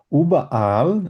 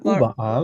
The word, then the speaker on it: überall: উবাআল, এভাবে বলবেন, উবাআল।